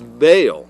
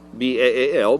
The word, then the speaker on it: Baal: And it's not coincidental that in the Canaanite context, their understanding, it was Baal, B-A-A-L, Baal, or Baal, depending on how you want to pronounce it.